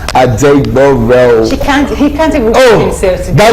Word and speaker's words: Adegboro: I hope I pronounced that well. No. Okay. It's Adegboro.